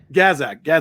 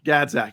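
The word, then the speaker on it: Gazdag: And then I think Philly will have a very good chance probably through, is it Bozak, the guy in the midfield? How you pronounce his name? Gazak. Yeah. Gazak.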